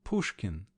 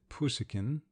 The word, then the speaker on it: Pushkin: likeness to the Italian even the names Pushkin she pronounced it puskin and glinka sounded somewhat